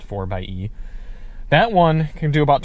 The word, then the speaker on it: 4xe: this jeep it's the 4 by e technically it's 4xe but it's pronounced 4 by e that one can do